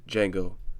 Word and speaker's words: Django: Go see the Django Unchained, or should I say Django? The D is silent.